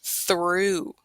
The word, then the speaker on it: through: We have the and then the same spelling, different pronunciation. This is through, through, Through.